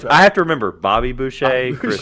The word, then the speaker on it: Boucher: you I still don't remember like that Chris Boucher's name and how to say this Boucher.